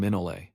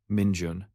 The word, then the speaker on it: Minjun: him, he said to stop calling him Minole and start using his real name, Minjun.